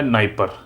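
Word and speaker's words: Dnieper: ठीक, यूक्रेन की कैपिटल है कीव, यहाँ से एक रिवर जाती है जिसका नाम है नाइपर, डी साइलेंट रहता है, डी नाइपर है, ये रशिया से होते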